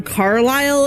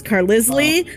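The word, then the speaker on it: Carlisle: the the one the moment that I realized that reading doesn't always pronounce the same uh was the name Carile in the Twilight series. I read that as Carisley for until my sister was like what the are you talking about?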